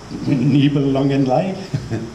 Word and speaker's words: Nibelungenlied: Just picked one out, the 2007 Rules for the Endgame, the world of the Nibelungenlied. Is that how you pronounce it?